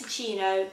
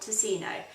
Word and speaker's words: Ticino: The icing that I'm going to use today is this Masso Ticino icing. I just googled how to pronounce that and I believe it is Ticino, not Ticino.